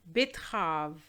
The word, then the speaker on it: betterave: Betterave. Here we have 4 syllables, but the second E is silent, so we're going to ignore it, and we're just going to say betterave.